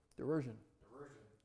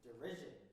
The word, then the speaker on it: derision: you to build diversion that's such a weird word man derision is that what it is derision why didn't you tell me this earlier you got to help me on that kind of stuff i say it wrong derision yeah derision